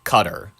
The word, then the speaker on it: Qatar: ] just pronounced it cutter. If you are listen and people give me They're like why do you why do you pronounce the the Kiran Karan? Because that's how it's pronounced.